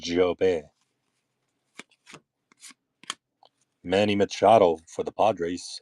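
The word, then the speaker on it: Jobe: It's French. It's pronounced job.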